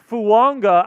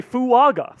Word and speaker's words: Fuaga: So all of the pronunciation guides Say Fuaga. say Fuaga, Taliese Fuaga. Yeah, Taliese. And then at a Senior Bowl interview, he's like, no, it's Taliese Fuaga.